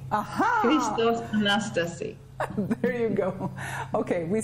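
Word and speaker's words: Χριστός Ανέστη: Christo Anastasi. Aha! Christos Anastasi.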